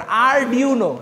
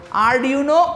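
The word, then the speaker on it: Arduino: যে আরডুনোর কি কি ভেরিয়েশন বাজারে আছে বা আরডিউনো প্রোনাউনসিয়েশনটা একটু ইয়া করেন আরডিউনো ঠিক আছে আর ইউনো আরডিউনো উনো আরডিউনো উনো এই জিনিসটা লাগে কারণ প্রজেক্ট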